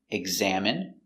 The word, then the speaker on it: examine: Words ending in ine can have different pronunciations. All of these have the sound in. Imagine, examine, engine, discipline, feminine, and masculine.